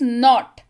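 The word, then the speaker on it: knot: है लेकिन स्पेलिंग इसकी के एन ओटी ही होती है क्लियर मुझसे ये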